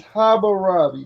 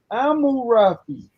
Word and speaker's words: Hammurabi: It's Hammurabi. That's the romanized way to say it. The Akkadian way to say his name is Amurapi.